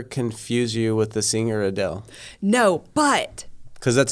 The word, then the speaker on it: Adele: is so for the longest time people would pronounce it in funny ways or adelay or something right and so when she became